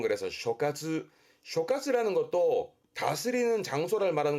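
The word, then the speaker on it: 所轄: 앞에가 소자, 소할 발음은 그래서 쇼카츠, 쇼카츠라는 것도 다스리는 장소를 말하는 거니까 앞에 있던 칸카츠와 같은 뜻입니다.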